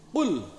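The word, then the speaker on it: قل: Orang enggak belajar tajwid bacanya qul huwallahu ahad. Salah. Kul itu kalau bahasa Arab artinya makanlah. Kul pakai kaf. Kul. Kul, makanlah. Huwallah, dialah Allah. Makanlah Allah. Salah, sesat dan menyesatkan.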